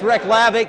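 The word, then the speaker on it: Reykjavík: capital of iceland wrong it's pronounced what that's right it's wreck lavic and it's back over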